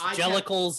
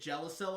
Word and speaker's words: Jellicle: And Yes, Jellicles and Ne'er-do-wells. Yeah, and I kept pronouncing it Jellicel or something like that.